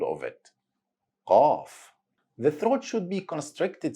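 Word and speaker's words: ق: If we're gonna say the word call in English, try to go deeper a little bit in your throat to find the Qaaf.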